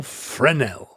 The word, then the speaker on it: Fresnel: the name of Austine je FR okay frel silent s frel Austin frenel and he independently conceived